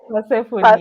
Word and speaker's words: Persephone: Yeah, So I think Michelle has said Persephone. Is that who you yeah, meant? yeah. I can't ever pronounce that name. Sa nimekwambia vile it's said. Persephone, that's her Persephone.